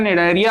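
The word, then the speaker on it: Cnidaria: Phylum निडेरिया, इसका pronunciation निडेरिया है, पहले का जो सी है वो साइलेंट है।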